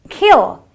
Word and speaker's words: kill: eye sound mostly so you have a kill it is kill it's not a kill okay so it is a short brief sound it's a kill it's